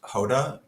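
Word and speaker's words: jota: Joda, or I guess it's probably pronounced Hoda, Jo- like the Spanish J. It's a dance, I believe. So Hota, I hope I'm pronouncing that right.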